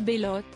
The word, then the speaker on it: Belote: Ensemble, Alain Souchon et celle que l'on surnomme Belote, prononcée Bellotte, dérivée de Belle, ont eu deux enfants, Pierre et Charles, aujourd'hui âgés de 51 et 46 ans.